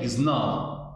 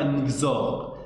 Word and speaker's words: XNOR: N-XOR, mais pour simplifier la prononciation, généralement, on appelle XNOR. C'est XNOR. C'est pas N-XOR. C'est XNOR.